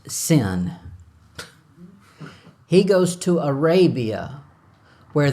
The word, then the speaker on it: Sin: I think is how you spell it it's pronounced sin he goes to Arabia where that God is